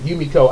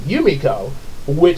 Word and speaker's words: Yumeko: first wrote the word Yumeko, I kept pronouncing it Yumeko. But then I heard EJ, he pronounced it Yumiko, and I thought about that because I remember we were talking about it.